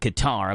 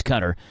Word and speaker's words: Qatar: Hey, the country of Qatar I always pronounced it Qatar, but apparently it's Qatar.